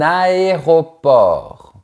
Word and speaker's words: aéroport: Un aéroport, il faut bien prononcer chaque syllabe séparément.